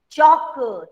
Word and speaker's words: chalk: So L is ये बोलना चाहिए चालक. मुझे बोलना चाहिए चालक. और मैं चालक नहीं बोल रही हूँ. I am speaking chalk. L is silent.